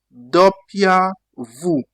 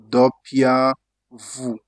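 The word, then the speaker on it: doppia vu: In Italian we pronounce it what? Dopia Vu. W is what? W is DOP VU. Dopia Vu.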